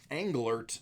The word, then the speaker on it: Englert: Mason Engelbert, or Englert, there we go, that's how I wanted to pronounce that.